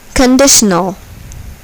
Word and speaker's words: conditional: Here, the second syllable is accented. Behold. Conditional.